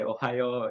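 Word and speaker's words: おはよう: Yes, and thankfully, because you mentioned the greetings, this is how you say Ohio in Japanese, which sounds like Ohio, which is where I'm from.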